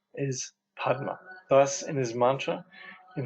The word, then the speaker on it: padma: noise also so padma padma the sanskrit term for lotus is pronounced pema in tibetan there are five buddha